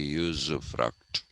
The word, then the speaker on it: usufruct: The Americans say usufruct. We can say usufruct. It is a combination of use and fruit.